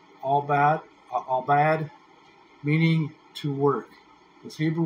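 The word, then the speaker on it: עבד: Now, dress that we see in the King James Version here, it comes from a primitive root word in Hebrew pronounced albad, meaning to work.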